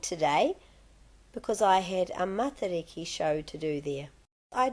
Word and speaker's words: Matariki: that people realise that the pronunciation of matariki is matariki, not matariki.